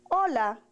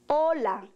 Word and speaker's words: hola: introduce ourselves we say hola como estas mi nombre is note that in Spanish the letter H is silent hola como estas mi nombre